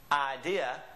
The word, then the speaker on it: idea: Of course, we say idea, some of us. It depends on where you're from. But in Spanish, it would always be pronounced idea. Idea.